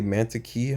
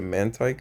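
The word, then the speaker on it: Mantyke: I always say mantiki. Hopefully, uh I've changed my pronunciation to Mantike now.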